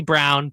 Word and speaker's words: Braun: He wants to be Brown, but it's spelled Braun, so I'm going to call him Braun. That's how the English language wants it to be.